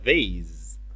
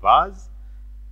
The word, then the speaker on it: vase: The vase. الاثنين صح. نطق الانجليزي البريطاني بنقول vase. اما نطق الانجليزي الامريكي بنقول vase.